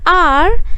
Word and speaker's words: hour: of her, is silent, which means H does not say anything.